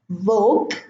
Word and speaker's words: vogue: Vogue, also up to the G, the ga. The U is silent, the E is silent.